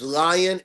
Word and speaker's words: Lion: My name is Lion. L I O N. Just like the king of beasts, aura.